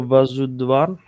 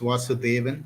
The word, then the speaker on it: Vasudevan: Hello, Vasudvan. Vasudvan. High five, Vasudvan. High five. High five. It's actually pronounced Vasudevan. So Vasudevan.